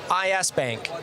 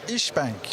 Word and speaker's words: İşbank: Is it Ish or IS Bank? It's İşbank.